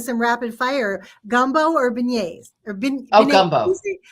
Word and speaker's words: beignet: So I was going to ask you in a kind of some rapid fire, gumbo or beignets or Oh, beignet.